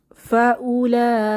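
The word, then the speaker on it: فأولئك: ইসরাইল আলাইহি ওয়াসাল্লাম এরপর ফাউলাইকা এখানে ওয়াও হচ্ছে অনুচ্চারিত অক্ষর উচ্চারণ হবে না এটার অর্থ হচ্ছে অতঃপর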